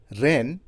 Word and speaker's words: reign: है army chief जेन हम देख रहे हैं कि तीनों शब्दों का उच्चारण रेन है और तीसरे शब्द में जी साइलेंट है जिसका मतलब है कि शब्द का उच्चारण करते समय जी अक्षर का उच्चारण नहीं किया गया है है और आइए